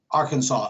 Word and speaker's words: Arkansas: native american language so we say arkansas as if it was spelled s-a-w um we're a campus